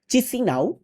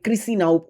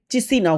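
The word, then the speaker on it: Chișinău: বলে যে দেশটি আছে এদের রাজধানীর নাম চিসি নাও এন্ড এটাকে অনেক সময় ক্রিসি নাও অনেকে উচ্চারণ করে থাকে বাট এটা চিসি নাও হচ্ছে অরিজিনাল যে উচ্চারণ সেটি এদের মুদ্রার নাম হচ্ছে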